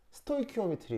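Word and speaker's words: stoichiometry: 스토이키오미트리 우리 말 뭐냐? 스토 자 어떻게 얘기냐면 스토이까진 같은데 CH가 여기서 K 발음 나와요.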